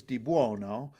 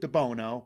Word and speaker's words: DiBuono: and my funny goes my name is De buono but people pronounce it debono but my dad would